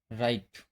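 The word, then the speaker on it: write: ऐसे ही इसका rule number 2 है, अगर आर से पहले डब्लू आता है तब डब्लू साइलेंट होता है। जैसे रॉन्ग, राइट, रैप। यहाँ आर से पहले डब्लू आया हुआ है, इसलिए क्या है, ये साइलेंट लेटर है।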